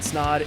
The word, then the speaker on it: Snaadt: My name is Snaadt. It rhymes with odd, and you're listening and